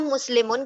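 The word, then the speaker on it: مسلمون: तो इसलिए मुस्लिम मुन हम कह रहे हैं, हालांकि ये मुस्लिम लिखा हुआ है। ठीक है, क्यों हम मुस्लिमुन कह रहे हैं?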